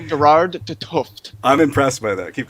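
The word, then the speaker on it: Gerard 't Hooft: Is that how you pronounce it? When we yes, Gerard de Tuft.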